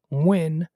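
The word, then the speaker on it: Nguyen: pump two bullets trin win 38 and i'm pronouncing that because i've known a number of vietnamese people and i know that n-g-u-y-e-n most often is pronounced win trin win 38 was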